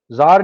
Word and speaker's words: Tsar: Russia के अंदर जो रूल था, एक फैमिली थी, उनको जार बोलते थे, TSAR, जार, टी साइलेंट है।